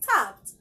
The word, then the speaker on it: stopped: got to the station stop you don't read it as stop it is not stop it has a t sound at the end stopped stop up stop